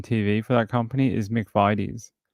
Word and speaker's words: McVitie's: The ad on Australian TV for that company is McVitie's with like that kind of an eye, not Vitties.